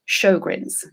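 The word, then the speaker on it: Sjögren's: it's something called sjogren's it's spelt not like it sounds so if you want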